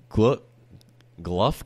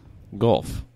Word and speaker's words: Guelph: Gluff, Canada? Gluff? Guelph. I don't know. Guelph. How would you pronounce that? GLE. No, Guelph. Gulf.